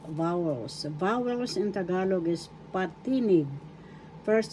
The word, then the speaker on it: patinig: Vowels in Tagalog is patinig. First syllable pa. Second syllable t. Third syllable nig. Patinig. Second syllable is where the accent is. So that's how you pronounce it in tagalog. Biggas. Patinig.